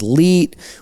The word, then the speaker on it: 1337: Jenkins, or the fat nerd, his computer case contains a sticker with 1337 on it, obviously pronounced as leet, which is a slang term translating to elite, which was commonly used at that time.